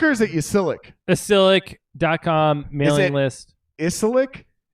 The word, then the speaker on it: Ysilik: The Y is like an I.